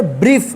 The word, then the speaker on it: brief: देखिए यहाँ पे जब किसी वर्ड में IE या EI एक साथ लिखा रहेगा तो इस IE का या EI का उच्चारण ई होगा, बड़ी ई, दीर्घ ई उच्चारण होगा, ठीक है।